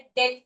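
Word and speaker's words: debt: डे डी ई बी टी डेप्ट नहीं पढ़ते हैं इसे। डेप्ट बोलता है। दैट इज़ रोंग। इसे डेप्ट पढ़ते हैं। साइलेंट होता है।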